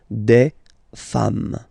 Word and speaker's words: des femmes: and then you just add this s at the end, and as we said, you don't pronounce it, so you get des femmes.